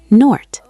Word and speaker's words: Noord: She pronounced it by stretching the O sound. "Noort." "Noort," Elias repeated, writing it in his notebook.